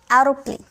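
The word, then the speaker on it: aeroplane: Okay, AEROPALN, एरोप्लेन, एरोप्लेन। Okay, तो इस तरह से AE के बाद आएगा तो इसे ए में प्रोनाउंस करेंगे।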